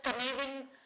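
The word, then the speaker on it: Cynefin: It's pronounced as kavian framework.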